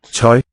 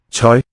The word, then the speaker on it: tøj: Tøj. Clothes. Zeug, I think. Tøj. Tøj. That Cantonese like diphthong.